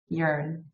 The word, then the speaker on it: Yearn: name like where did it come from it's pronounced urine right is it correct yearn yeah so so or originally the very first